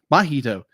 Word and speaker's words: Mahito: Is the story of our main character, who's how do you pronounce his name again? Mahito.